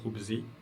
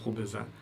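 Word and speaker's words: خبزاً: Khubza, je vais pas dire khubzi, je vais pas dire khubzu, je vais dire khubza.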